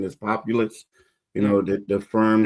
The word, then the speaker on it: Populous: You know, it's funny before they announced that I guess the the pronunciation is populous, you know, the the firm that they're going to that they hired.